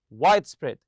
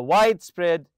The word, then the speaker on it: widespread: them together in a compound noun it's widespread in recent years capsules capsule hotels have gained a widespread popularity also remember to stress the first part here in the hotel in